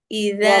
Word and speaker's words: إذا: ومن شر غاسق إذا وقب ইযা, ومن দাল নরম হবে, ইযা ওয়াকব।